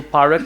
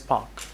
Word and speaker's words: park: So parak is wrong, it should be pronounced as park.